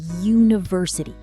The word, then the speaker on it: university: And the opposite, a university. It starts with U, but it sounds like you, so we use a.